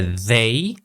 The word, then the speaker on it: they: Okay, again, that TH, very important. They loved movies. Okay, it should be they. So remember, in one of my lessons, I showed you guys how to correctly pronounce the TH sound, or the hard TH or voice TH sound. Okay, the. We have to really place our tongue in the correct position, which is between our teeth.